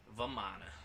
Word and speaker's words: Vamana: Everyone's Vamana. the big Everyone's baby. favorite big baby. Vamana or Vaman. It's pronounced Vaman in Hindi, but So whatever.